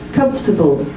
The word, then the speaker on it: comfortable: his comfortable again so how many syllables does it look like it looks like four listen comfortable three sounds like it looks like it should be full but when you hear it it's reduced that um you get that